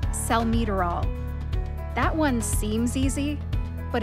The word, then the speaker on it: salmeterol: to emphasize and more for example salmeterol looks like cell material the correct pronunciation is cell meterol that one seems easy